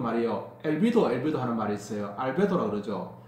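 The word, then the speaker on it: albedo: 알베도라고 그러죠.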